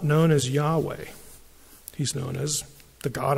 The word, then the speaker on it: Yahweh: am which in Hebrew when the first person speaker speaking is yeah when you refer to that person the pronunciation is Yahweh and Yahweh you know what it